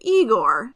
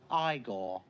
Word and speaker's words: Igor: including the grandson of Igor. No, it's pronounced Igor. But they told me it was Igor.